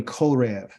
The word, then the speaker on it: Horeb: show up as Horev, but it's really Korev. Okay, it's really Korev. Okay, and it's not a V here, but it's a B, but the pronunciation is a V sound. It's a soft V sound.